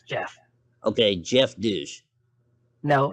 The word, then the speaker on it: Geoff: uh hey guy um that's not how my name is pronounced you know that right it's g off no it's pronounced Jeff Jeff no I've got